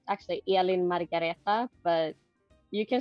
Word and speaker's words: Elin-Margareta: name right Ellen I mean yeah you can pronounce it otherwise it's actually Ellen margareta but you can say Eileen or Elena how